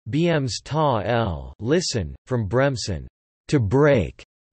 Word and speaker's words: Bremsstrahlung: Bremsstrahlung, German pronunciation, Bremsstrahl, listen, from Bremsen, to break, and Strahlung, radiation,